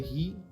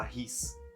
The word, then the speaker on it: riz: A maioria das vezes a gente não pronuncia a última letrinha de certa coisa. Então tá certo. Se escreve R-I-Z, mas se fala ri. Não tem esse Z, não se fala ris.